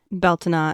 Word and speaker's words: Bealtaine: That's why I tend to lean more toward the Irish Scottish Gaelic pronunciations and spellings, Beltina and Beltana, respectively.